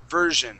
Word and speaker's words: version: word version okay so we're gonna use more of a j sound here so version version version good good yeah so instead of pronouncing the s in this word it would it would sound more like a a zish okay J more of a sound like that okay good nice that was